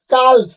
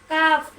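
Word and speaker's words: calf: বলেন তো এই যে সি এ এল এফ কাল এই কেন কাল বলবো না কাপ বলবো কি জন্য বলবো কি জন্য এল বাদ যায় কোন শব্দের কোন শব্দের শেষে যদি কে এফ এম হয় থাকে তার আগের লেটার যদি এল হয় তখন এল সাইলেন্ট হয়ে যায় যথা কাফ মাশাল্লাহ গুড সুন্দর প্রশ্নের উত্তর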